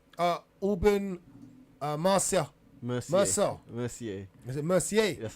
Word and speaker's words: Mercier: sorry sorry Olivia uh Mar Merc mer Mercier Mercier that's how you say that's how you pronounced it he's been he's been sorry sorry